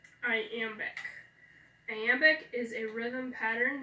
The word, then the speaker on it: iambic: Okay, so the first syllable of iambic is I, so that's unaccented. Am is the second syllable, that's accented. B-I-C is the last syllable, that's unaccented, so it's iambic, okay?